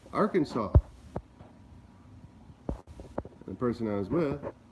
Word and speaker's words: Arkansas: the event someone corrected me and it's not our canvas it's Arkansas I think that's what I thought so which